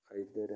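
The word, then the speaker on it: either: द river overflowed on आइदर side, अब यहाँ पे दोनों साइडों के लिए आइदर है, इसको इधर भी कहते हैं। दोनों प्रोनाउंसिएशन ठीक है।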